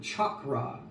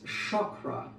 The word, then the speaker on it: chakra: up and let's examine the way you are pronouncing a Sanskrit word Chu ra chalk like in Blackboard chakra it this is uh something that I've heard uh in the west people uh in the United States I've heard say chakra um never ever really pronouncing the Sanskrit of the word the Holiness the Divinity of the word correctly it's Shakra the front of the